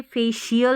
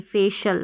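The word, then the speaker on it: facial: अनऑफिशियल अनऑफिशियल फिर है यह फेशियल नहीं फेशल फेशल फेशियल नहीं फेशल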